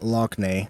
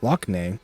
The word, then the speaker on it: Lockne: Lockney, I think it's actually pronounced Lochna, by the way, but I don't care. I like Lockney better. That's how it looks like it's supposed to be said.